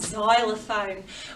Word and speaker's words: xylophone: before it's called a xylophone although the sound starts with a z that reminds us of the letter z it's actually spelt with an x let's see how this